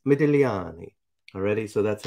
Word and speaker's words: Modigliani: interested to know that the g is silent and so it's not as easy to say as medigliani right and it's very tempting to say medigliani but it's medelliani already so that's how